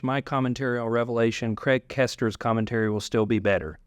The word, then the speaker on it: Koester: commentary on Revelation, Craig Kester's commentary will still be better. He said it's just the best one out there. His last name is spelled Koester.